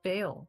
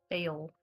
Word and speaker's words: Bael: How do you spell it? Just look up Bale. B-A-E as in echo, L as in Lima. Bale.